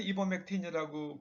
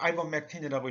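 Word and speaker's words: ivermectin: 또 이버맥틴, 우리나라에서 이버맥틴이라고 그렇게 읽는데 영어 미국 사람들 아이버맥틴이라고 읽어요. 이게 말 사상충 약이래요.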